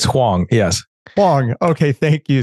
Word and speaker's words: Huang: How did I pronounce that right, Deren? It's Huang, yes.